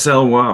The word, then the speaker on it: Salois: Salois, is that, have I pronounced it correctly? Yes, Salois.